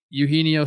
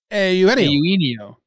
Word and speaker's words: Eugenio: Speaking of confused, I've been calling Eugenio Suarez forever. But turns out it's a Eugenio. Promise you, it's not. You got to do the A first. Eugenio.